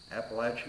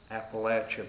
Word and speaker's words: Appalachia: or an app appam AER Lain app American Appalachian Amer anyhow it's pronounced Appalachia people not Appalachia please I'll have another latte